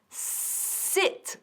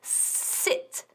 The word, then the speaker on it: sit: Decimos sit con una S limpia. No quiero oír ni rastro de H ni nada. Sit.